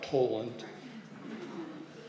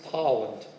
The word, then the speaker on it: Tolland: to say it properly it's not Poland it's pollen if they got to